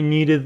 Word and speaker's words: needed: Because I needed the money. I needed the money. Remember from the previous video, unit 13, we said need. ED is pronounced needed.